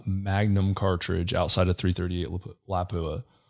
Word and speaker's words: Lapua: cartridge outside of 338 lapua lapua yeah i always say it wrong i say lapis uh sorry guys um